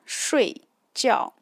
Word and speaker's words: 睡觉: If I'm using the fourth tone, it is 睡觉. That means sleep.